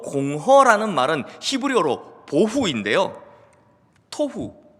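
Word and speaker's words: תֹהוּ: 또 공허라는 말은 히브리어로 보후인데요, 토후, 보후, 마치 라임을 맞춘 것처럼 발음이 비슷하죠.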